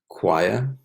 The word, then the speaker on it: choir: Remember, the CH is pronounced k. Orchestra, choir, chorus, microphone, right?